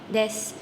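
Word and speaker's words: です: Sedangkan di sini ada U ya, huruf Usu tetapi dibaca dengan desnya tidak dibunyikan. Jadi hanya des.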